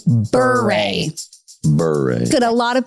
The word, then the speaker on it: Bure: It's Bure. But we say our last name, Bure. Bure. Good. A lot of people do mispronounce our last name, and a lot of